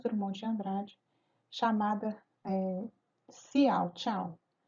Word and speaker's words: Ciao: de Andrade, chamada Ciao, Tchau. Ela se escreve Ciao, mas se pronuncia Tchau, né?